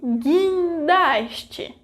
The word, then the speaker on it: guindaste: There are only two exceptions to that, when the vogal U precedes the vogais I and E in a syllable with the consonants Q and G. For example, queijo, quiabo, guerra e guindaste. Did you know that in those cases I didn't pronounce the vogal U?